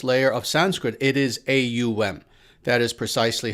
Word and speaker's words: AUM: is the oldest layer of sanskrit it is a um that is precisely how it is how it is spelt and pronounced in roman transliterated form so